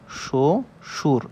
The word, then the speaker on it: শ্বশুর: হয় হচ্ছে বর্গীয় ব আর যে বটা উচ্চারণ হয় না অর্থাৎ শ্বশুর এই যে ব টা লিখছি আমরা এই শ্বশুরের এই ব টা কি উচ্চারণ হইছে ব কিন্তু কিন্তু উচ্চারণ হয়নি সুতরাং এর নাম হচ্ছে অন্তস্থ ব এখন এই যে ব প্রথমে বসছে শব্দের প্রথমে এই যে ব উচ্চারণ হইলো হইলো না তখন এটাকে এর নাম আমরা কিভাবে লিখতে পারি আমরা লিখতে পারি সো সো সুর এভাবে লিখতে পারি তালবস